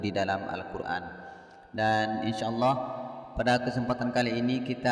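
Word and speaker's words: الله: dipanjangkan 2 harkat yuk lafadz Allah dibaca Allah tidak dibaca lah karena huruf sebelumnya yaitu mim berharakat dhammah kalau huruf sebelumnya berharakat kasrah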